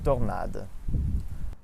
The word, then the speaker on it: tornade: For A, all other pronunciations of O are A, like in organization or tornado, specifically the first O. So we say in French, organisation and tornade.